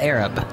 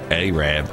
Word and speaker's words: Arab: that how it's pronounced aab it's not Arab I thought it was Arab and everybody everybody corrected me no Mark it's aab aab we don't say the Arab word around here so that's what it's